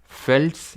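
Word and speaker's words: veld: देते हैं, prairies, steppes, फेल्ट्स, इनको फेल्ट प्रोनाउंस करते हैं, वेल्ड नहीं बोलते हैं, ठीक है, लेकिन प्रोनाउंस करने के लिए थोड़ी ना आएगा।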